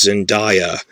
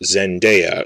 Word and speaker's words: Zendaya: through the spider-man movies i thought her name was zendaya because i've heard people saying it that way on tv and they were wrong and i looked up it's pronounced zendaya so sorry about that